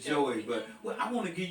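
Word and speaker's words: Joi: Dr Joey yeah y it's SP J oi she pronounces it Joy but I want to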